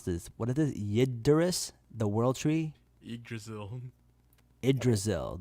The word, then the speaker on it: Yggdrasil: I don't even know how to pronounce this. What is this? Yggdrasil, the world tree.